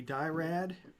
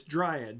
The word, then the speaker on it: dryad: a mix between a dirad sorry I'm not pronouncing that right dryad or diary it's dryad Dr right yeah looks